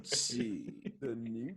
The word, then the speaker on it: DiNucci: Ben DiNucci. Why you say it like that, John? Why? That's his name. DiNucci. That's how you gotta say Tell it.